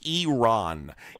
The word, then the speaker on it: Iran: Iran Iran Iran is not a country, and that's not how you pronounce it anywhere across the globe. It's Iran.